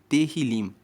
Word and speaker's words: Tehillim: Tanto que o livro de Salmos em Israel se chama Tehillim. Se escreve T-E-H-I-L-I-M e Tehillim quer dizer louvores.